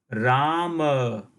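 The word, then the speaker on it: राम: But in Sanskrit, the same word will be pronounced as Rama, Ram, whereas this word in Hindi will be pronounced Ram.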